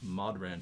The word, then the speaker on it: Modhran: the uh the name mod ran tippers spelled like baudran badran mauron uh right so spelled like balron but with an m so like modern bow brown some m-o-d-h-r-a-n and you can get